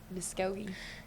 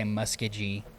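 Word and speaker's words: Muskogee: So Msogi. Yep. Everybody always mispronounces it and they say Muskaji because we got a lot of Indian town names in Oklahoma, a lot of native towns.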